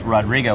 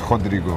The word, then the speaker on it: Rodrigo: We've got Brazil in the house, Rodrigo, which that's not the proper way to say your name, right? Yeah, it's Rodrigo.